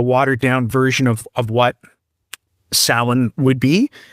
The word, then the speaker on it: Samhain: I would suspect that if you ever were to Google Samhain, and that's spelled Samhain, but pronounced Samhain, you'll find all kinds of stuff,